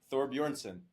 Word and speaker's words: Thorbjornsen: is thoron that's the the mountains full name Thor Boron you know yeah you got it that was actually really good pronunciation maybe you're you're doing introductions next time